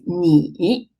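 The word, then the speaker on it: 你: Chinese cut to need the initial is numb where the final is e so together the whole syllable is me for the second character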